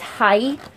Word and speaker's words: hay: Yeah, I forgot that it's not pronounced, that word is pronounced as hi and not here. So, because I was just hearing I, because the H is silent, I was just like,